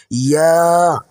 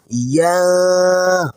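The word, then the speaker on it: ياء: ক্লাসের মতো জিম এবং শিনের মতো করেই এটি উচ্চারণ হয়। আমার সাথে মিষ্টি করে বলুন ইয়া। ইয়া।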